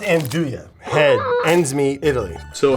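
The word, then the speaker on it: 'nduja: Ndjua. So in Jua? Pretty close. Jua? Pretty close. I think it's pronounced Anduja.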